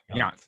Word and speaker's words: Jandt: So his name is it's not, you see it on the screen there, JANDT, but it's pronounced Yant. Yant.